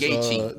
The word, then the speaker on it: Gaethje: Goche, man. I don't know. Yeah, man. That That's is Justin. not No, close that's to Justin Goche. Gaethje, boy. That don't say Justin none of that. Gaethje, man.